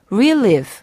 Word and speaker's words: relive: 주의할 점은 강세가 relive, 앞에 있다는 점입니다. 만약에 relieve로 발음하시면 뒤에다 강세를 놓으시면 경감시키다라는 뜻의 동사 relieve, R-E-L-I-E-V-E랑 헷갈릴 수 있다는 점 기억하시기 바랍니다.